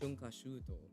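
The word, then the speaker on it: 春夏秋冬: The word is pronounced shunkashuto.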